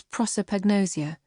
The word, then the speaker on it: prosopagnosia: The scientific term is prosopagnosia, deriving from the Greek, prosopon, for face, agnosia, for ignorance. Pronounce it how you like. Personally, I put the emphasis on the first syllable.